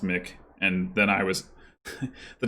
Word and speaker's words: Mic: I think it's Mick. It was probably me who was saying it wrong.